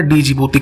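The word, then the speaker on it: Djibouti: तो डी से उसका नाम शुरू होता है, डी जिबूती कह लीजिए, ऐसे कुछ इसका प्रोनाउंसिएशन होता है।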